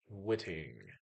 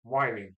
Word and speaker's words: Whiting: Whitting, I think, Indiana. Yeah, or Whiting. Whiting. It is Whiting. Sorry. Oh, forgive me, Steve. Forgive me. I just looked it up and it is Whiting. Sheesh. Sorry for mispronouncing it.